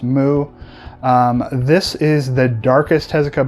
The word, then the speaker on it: MW: three we have mw or as it's actually pronounced mu this is the darkest hesika book that i read this was released between 1976 through 1978.